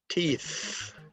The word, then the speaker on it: teeth: Teeth. Teeth. Is the TH voiced or unvoiced? It is unvoiced.